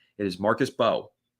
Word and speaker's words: Mbow: This entire draft, the whole season, the off seasonason, today we've been pronouncing Marcus and Bao's name wrong. It is Marcus Bo. The M is silent.